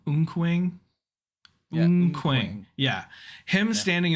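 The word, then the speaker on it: Eunkwang: We got corrected on the pronunciation in our chat, so it's Unkwang. Unkwang.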